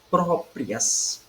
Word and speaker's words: próprias: Próprias, próprias, duas sílabas, certo? Última, prias, né? E pró. Própria, nós temos aqui a penúltima sílaba é a mais forte, certo? Que é pró.